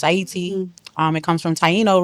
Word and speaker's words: Ayiti: Aayiti is Aayiti means the land of high mountains or flower of highland. It is the indigenous um pronunciation and preferred um way to describe the country of Haiti. And so it's Aayiti.